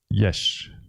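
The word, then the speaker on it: Illyes: I'm very happy that you finally told me how to pronounce his name. Gary Yesh. Yeah, pretty much. Or something like that.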